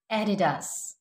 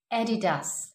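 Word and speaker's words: Adidas: Another very popular brand एडिडास, एडिडास, एडिडास.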